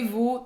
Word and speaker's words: vous: Vous é como se fosse só um VU.